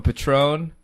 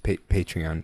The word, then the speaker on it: Patreon: We are also setting up a Patron. You're just Pr- are you just gonna say this all the time, Han? pronounced. Han. It's pronounced Patreon. Oh, It's Patreon.